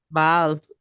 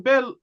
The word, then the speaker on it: Bel: Bal. You know what? We actually know bell in in the pronunciation bell. Exactly like that. In Mesopotamia, they instead of saying bal they said bell.